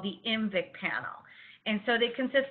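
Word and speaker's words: IMViC: voc prescott and citrate the little tiny eye is just there for pronunciation purposes it's just to help you say umvic but again we run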